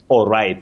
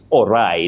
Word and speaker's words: awry: Awry things went awry, not awry as some people may innocently say because I always say nobody can know everything at once in any language.